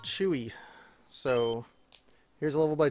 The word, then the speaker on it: J.O.O.C.: who said their name is pronounced Chewy.